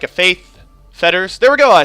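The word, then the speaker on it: Faith's Fetters: Ideally, I get like a Faith Fetters.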